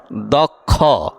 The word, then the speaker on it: দক্ষ: শব্দ গঠন করলাম ছোট আকারে যেমন বলেন দক্ষিয় দক্ষ দক্ষ কি বলেন দক্ষ দক্ষ দক্ষ আবার বলেন দক্ষ দক্ষ দক্ষ কি উচ্চারণ দক্ষ মনে হয় যে খ দুইটা খর